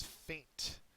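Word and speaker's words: feint: come in next is faint and it's not faint ft which is you know you pass out this is with an E uh it's pronounced the same way though uh there's no accent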